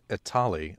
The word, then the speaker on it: Etali: New York Italy it's it's like Holly from Mass Effect it's like Holly the